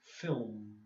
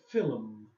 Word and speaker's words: film: get this one wrong because of the L. Okay, the L is really difficult, so you did 2 syllables, but it should be film. Yeah. You were like film like this, but it's not. It's like that. Film. The L is real. The L is almost not there.